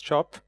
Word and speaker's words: CIOP: ISA with a project spelled ciop you pronounce shop which had aimed at